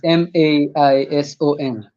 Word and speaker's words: Maison: and it is MAISON. Yeah, I got the spelling. I just wanted to Yeah, hear the right pronunciation.